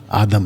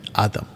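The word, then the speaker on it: Adam: उनका प्लूरल, उनका नाम आदम रखा। तो पुरुष का नाम भी आदम और स्त्री का नाम भी आदम। और आदम का सही प्रोनाउंसिएशन है आदाम।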